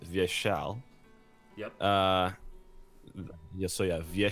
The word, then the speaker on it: Vyeshal: first I'll make a small correction so it's pronounced via shell yes so you have via shell it's it's